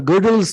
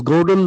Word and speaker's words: Gödel: powerful theorem called the Gödel's theorem in the modern times. It is Godel, pronounced as Gödel or Gödel.